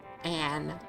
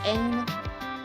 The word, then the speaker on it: Ain: Is it meant to be pronounced Ain? Still looks like Anne to me. Oh, and it's not double N. Oh, okay. Yeah, it would be Ain.